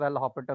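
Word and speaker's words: L'Hôpital: S silent है, इट इज एल हॉस्पिटल rule.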